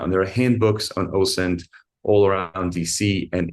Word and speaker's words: OSINT: And have you ever heard of an approach called OSINT?